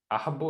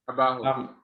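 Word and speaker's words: Abbahu: Which Rabbi Ahabu, is that how you pronounce his name? Abahu.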